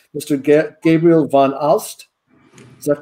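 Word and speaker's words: Gabriel van Aalst: Gabriel von Alst.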